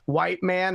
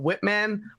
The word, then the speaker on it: Whitman: the color of your skin that made you pronounce her last name as white man instead of Whitman but like either way I'm here to say